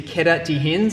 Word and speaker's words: queda de rins: into fall onto the kidneys, and the Portuguese pronunciation is queda de rins, and I have a really hard time saying